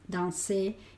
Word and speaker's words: danser: Acuérdate que los verbos en ER, la R no se pronuncia. Yo no digo manger, no digo danser y cosas así, sino manger, danser y de rouge, rougir.